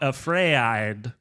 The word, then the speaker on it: AfrAId: So this week we are talking about AfrAId, and that is the correct pronunciation.